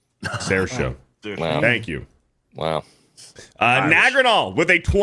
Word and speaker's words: Saoirse: I've been pronouncing it wrong. I thought it was Cersei. Sarah show.